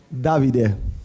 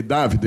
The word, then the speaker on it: Davide: Qual é a pronúncia certa? É David ou David? Davide. Davide. Exato. OK. Dávide. Perfeito.